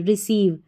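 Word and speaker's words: receive: ई को डी पढ़ा आर ई को री पढ़ेंगे री फिर है सीव हमारा कोड सी ई आई वी ई रिसीव रिसीव और जब भी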